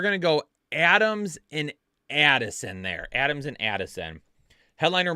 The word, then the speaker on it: Addison: receivers and a flex Adams excuse me Adam what the world did I just say I put a long a on the end of his name Adams Addison McClaren Rashad white James